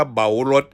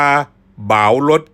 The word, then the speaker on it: เบารถ: เหมา รถ คำ ว่า เหมา รถ นี่ ออก เสียง ว่า เบา รถ ครับ เบา รถ หรือ สิ ว่า บ่าว รถ กะ ได้ ครับ อัน นี้ ก็